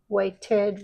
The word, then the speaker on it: waited: wait Waits waiting waited because the T and the D sound are too close together so I have to separated waited waited trade trades trading